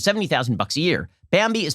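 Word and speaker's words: Bambee: an average of 70 000 bucks a year bambi is spelled b-a-m-b-e-e it was created specifically for small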